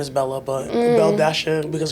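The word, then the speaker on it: Belle-A: Her name is Bella, but Belle Dasha, because her name is spelled Belle Dash A. With a dash and an A. So Belle Dasha.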